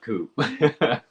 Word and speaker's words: Coop: Poop rhymes with Coop.